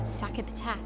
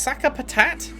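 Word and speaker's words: Sakapatate: We already defeated your ultimate sakapat. It's pronounced saka patat.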